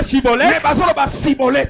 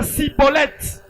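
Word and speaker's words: schibboleth: Ils ne disent pas chibolte. Ils disent cibolette.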